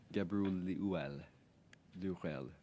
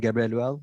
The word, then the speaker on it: Gebreluel: Gabriel Durel. My apologies again. Please pronounce it for us correctly so we know how to pronounce your family name.